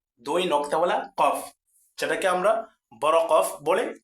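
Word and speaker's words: كاف: সঠিক উচ্চারণ কি? ফা ফা ফা ফা এর পরবর্তী শব্দ দেখেন এই দেখেন এই হরফটার নাম কি এই হরফট নাম হলো কফ কফ দুই নক্তাওয়ালা কফ যেটাকে আমরা বড় কফ বলে চিনি কাফ কাফ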